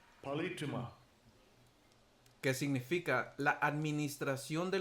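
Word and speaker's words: πολίτευμα: Porque como dice aquí la palabra politeuma, que se pronuncia así, Strong's G 4175, Palituma. Palituma.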